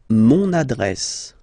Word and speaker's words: mon adresse: Mon adresse, my address, mon adresse, okay, you can hear now this little link, so you get to pronounce this N, mon adresse, okay.